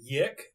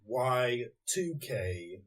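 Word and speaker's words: YIIK: ago what's that it's a game called I pronounce the Yak because it's spelled like why I I K but later I found out that it's actually y2k so it's why the Roman numeral two K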